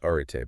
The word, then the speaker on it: Arete: Pronounced Arete, by the way. Right, Arete. It's Greek. Yeah.